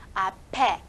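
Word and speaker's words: 앞에: 这个 p 哦，要转在后面啊，一个连音现象。那么 ape ape ape，약국이있어요 啊，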